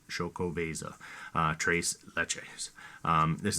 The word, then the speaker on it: Xocoveza: my forte but is shoko veza um and that doesn't look like it the x is actually pronounced like an sh so if i pronounce that correctly shokovasa uh trace leches um